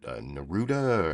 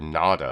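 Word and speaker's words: Nauta: Or no, I'm not pronouncing that correctly, I don't think. But no, it's Walter Nada, I think is how you pronounce his name, Nada. And I'm putting like an extra R in there for no reason.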